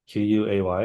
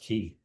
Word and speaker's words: quay: doesn't really matter, but qu A Y is actually pronounced key.